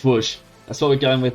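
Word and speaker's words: Łódź: to Wellington see B says your pronunciation pronunciation of Ls is correct it's wo okay it's wo that's what we're going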